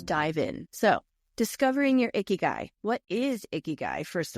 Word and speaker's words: ikigai: It is pronounced iiky guy and it is Japanese combining the word icky meaning life and guy meaning worth or value.